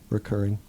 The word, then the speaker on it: recurring: But how many times have you Reoccurring had is this dream? incorrect. Wait, what? Reoccurring is the incorrect way to say it. Oh, It's you're like one of those saying- guys? It's like recurring.